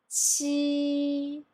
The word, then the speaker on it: qi: I will pronounce qi, qi. I try to push a little bit air from my mouth, so it's less stress than the previous one, ji.